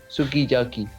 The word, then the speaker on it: sukiyaki: usually allophonic for example the japanese word sukiyaki is pronounced sukiyaki this may sounds like yaki to an english speaker but but the lips can be seen compress compressing for the you something similar happens in